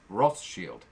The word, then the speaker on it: Rothschild: rothschild rothschild ross shield there's a different pronunciation depending on whether you're talking about the scottish or the french this was named after a bordeaux wine produced in france so it's rothshield now being introduced later